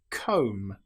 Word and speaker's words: comb: An example might be lamb or comb. Here we don't pronounce the B, we don't say lamb, it's just lamb or comb. The B is totally silent.